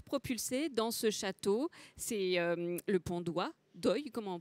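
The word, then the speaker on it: Le Pont d'Oye: Il se retrouve propulsé dans ce château, c'est le Pont d'Oie, d'Oeil, comment on prononce ?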